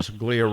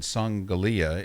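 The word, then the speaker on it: Ryan Songalia: Ryan Sunglia, Ring Magazine. Follow him on Twitter, Ryan, R-Y-A-N, and Sunglia is how it's spelled, S-O-N-G-A-L-I-A, from the legendary Ring Magazine.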